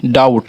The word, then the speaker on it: doubt: जैसे डेप्ट, क्या ये डेप्ट उच्चारण होता है। फिर डाउट, देखिए DOUBT, डाउट।